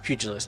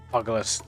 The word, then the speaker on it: pugilist: Yeah, it's pronounced pugilus, not like buggalus. At first, I thought it was pronounced bugalist.